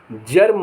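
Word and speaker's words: germ: N imagine माने कल्पना करना जीई आर एम जर्म माने कीटाणु पी आई जी ई ओ एन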